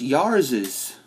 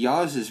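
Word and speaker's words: Yars' Revenge: i've just noticed something it's actually pronounced yaris's because look there's a little like uh oh what they call it a pop not pos yeah apostrophe at the end so technically it'd be jazz's revenge not yar's revenge it'd be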